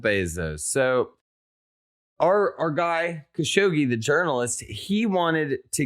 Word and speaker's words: Khashoggi: was a journalist i believe his name was khashoggi is how he pronounced it uh and over there they're not